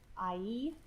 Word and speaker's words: Ai: It's actually pronounced Ai.